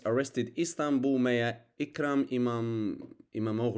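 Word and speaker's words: İmamoğlu: Sir, Turkish police arrested Istanbul Mayor Ikram Imam Imamu or Imamu in Turkish pronunciation.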